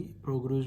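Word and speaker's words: prorogue: ये जो प्रोग्यूज PROGUES, इसकी प्रोनाउंसिएशन आप देख लीजिए, प्रोग्यूज मैं ये बोल रहा हूँ, ठीक है।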